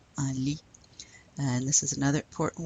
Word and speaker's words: un lit: Do we pronounce the T? No, un lit.